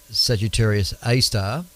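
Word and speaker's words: Sagittarius A*: But since the discovery of Sagittarius A, pronounced Sagittarius A star, The black hole has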